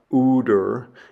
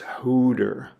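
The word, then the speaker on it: ὕδωρ: And the example I have there is uh is the word for water which again has a rough breathing mark over it. So it's not uder, it's hooder.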